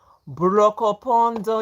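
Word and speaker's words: Brokopondo: Brocopondo, yes, yes, yes, correct, correct, correct. We always made a joke of like trying to pronounce it. Brocopondo.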